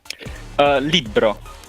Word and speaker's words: Libbro: Libbro. Libbro. Okay, so Libbro. we definitely need to practice pronouncing Libbro. that correctly. The R's are actually rolled in Finland as well, so Yeah, I'm Norway already too.